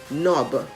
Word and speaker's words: knob: t f u l the k in the word knob the k in the word